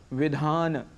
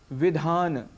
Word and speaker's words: विधान: उच्चारण ठीक रखने चाहिए एक और उदाहरण है विधान विधान हम इसे विधान कह देते हैं जबकि यहां पर व ई ध आ न और अ है अंत में अंतिम अ को हम यहां छोड़ जाते हैं सामान्य रूप से अक्षर